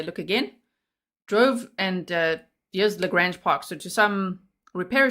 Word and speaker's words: LaGrange: LaGrange, like range. Thank you. I don't suck at life, Janice. All right. So LaGrange, let's say it like that.